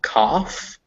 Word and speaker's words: cough: pronounce those sounds anymore there are a few words that end in gh and you pronounce it as an f like cough or tough but those